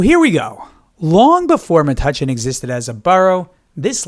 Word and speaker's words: Metuchen: Now, it varies on the pronunciation because the spelling from back in the 1600s, it varied. So the pronunciation is not 100% known, but Metuchen is what I found to be most common.